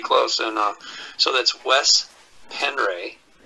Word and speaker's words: Penre: And so that's Wes Penray, And it's spelled W-E-S, Penre, P-E-N-R-E.